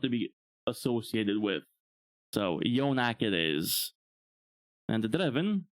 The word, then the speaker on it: Yonack: reads the word Yonack, they would immediately try to pronounce it as eunuch. Which, if you know what a eunuch is, not a word I want to be associated with. So, Yonack it is.